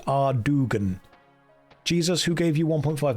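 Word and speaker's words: Ardougne: It's pronounced Ardugan.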